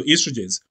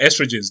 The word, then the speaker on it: estrogens: But this is particularly important in women because alcohol increases the conversion of testosterone to estrogens, okay, to estrogens or estrogens, depending on how you pronounce it.